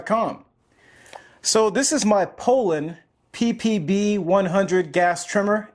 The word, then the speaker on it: Poulan: properly pronounce the name it is Poland just like the country but without the D so this trimmer has